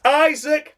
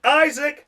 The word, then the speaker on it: Isack: It's Isack Hadjar! And as Harry Benjamin said, Isack Hadjar!